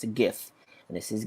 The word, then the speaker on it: GIF: of what that stands for and how you pronounce it so it's a gif and this is giphy not jiffy jeff is